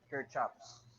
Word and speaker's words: Kirchhoff: developed by the german physicist named gustav robert kirchhoffs okay how do we pronounce this in the philippines we pronounce this as kirk chops laws per chapter but i watched some lecture